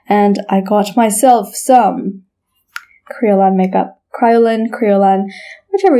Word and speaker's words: Kryolan: probably should not have so some people might call this Kryolan and I think that's a very like Americanized way of saying the name of this brand but I think the correct way of pronouncing it is Creole on now this is called